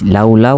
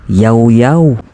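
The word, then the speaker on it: Llaollao: Kung yung basa niyo diyan is lawlaw or ilaw-ilaw, pwes parehas tayo ng binabasa. Pero hindi pala ganun ang tamang pagbigkas at pagbasa ng kanilang pangalan. Ang tamang pagbasa daw dito is yawyw.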